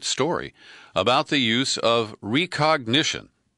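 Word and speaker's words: Rekognition: about the use of recognition. And that's where it's spelled R-E-K, ognition.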